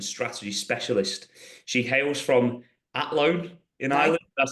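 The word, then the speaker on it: Athlone: She hails from Atlloan in Ireland. Did I say that right? Don't pronounce the H.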